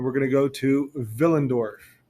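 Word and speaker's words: Willendorf: going to go to villendorf spelled with a W pronounced with a v villendorf here is the archaeological site at villendorf and this is the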